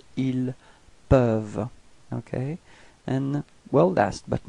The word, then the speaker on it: ils peuvent: Okay, for ils au pluriel, then you get ils peuvent. Repeat. Ils peuvent. Okay, so as usual, you've got this E-N-T at the end, but then you don't pronounce it. You only pronounce ils peuvent.